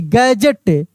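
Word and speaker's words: gadget: हज जी ए डी जी ई टी गैजेट गैजेट D silent है और जी को ज पढ़ रहे हैं।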